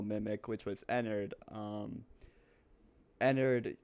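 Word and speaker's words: Ennard: which was Enard um Enard also rhymes with Edwin so that's kind of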